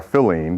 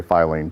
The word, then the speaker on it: Filene: in the past now Edward filene and uh or filling because that's how the family actually pronounces the name uh we all say filing but uh feline was